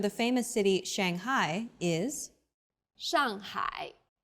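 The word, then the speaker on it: 上海: city Shanghai is Shanghai the first syllable here is made of an initial and a final and a fourth falling tone the second syllable is made of an initial and a final I and a third falling then Rising tone hi Shanghai well done let's wrap up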